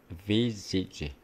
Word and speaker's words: visage: 발음 참 재밌죠. visage. V도 우리말에 없고, Z도 우리말에 없고, G에도 우리말에 없죠. E도 사실 우리말에 없습니다.